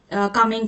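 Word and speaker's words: Kamlang: So here is the second question of the session which is द केमांग और कामिंग sorry sorry pronunciation is कामिंग एलीिफेंट reserve is located in which district of Arunachal.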